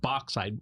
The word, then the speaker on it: bauxite: It is an ore called it's a mineral called bauxite, which is Right. not spelled BOX. It's spelled BAUXITE.